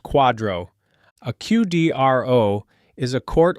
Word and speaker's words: QDRO: It is called a qualified domestic relations order or QDRO, pronounced quadro.